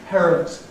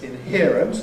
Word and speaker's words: inherent: The lower line there is ‘inherent’ as against , not quite such a dramatic change but a pretty clear trend. All the same, so people tend to say ‘stereo’ and ‘inherent’ rather than the older and . ‘Stress’: green line, ‘applicable’ [